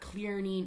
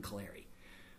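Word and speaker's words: Clarey: Listen to the Clary podcast online. And remember, it's spelled C-L-A-R-E-Y, not Clearney, not Clarney, not Clancy, not Cleary, not O'Clary. There's no O, there's no Mick, there's no Mac.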